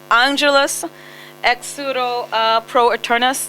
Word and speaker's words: Angelus Exuro pro Eternus: Because right now you're touring on Angelus Exuro Pro Eternus.